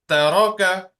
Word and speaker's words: ترك: Taraka, ترك ta is a thin letter. Only raw, you will pronounce raw as thick.